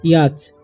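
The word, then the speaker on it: yacht: है इसे पढे हम याच ठीक हैक क्योंकि टी का उच्चारण य पर नहीं होगा या नहीं पढ़ना या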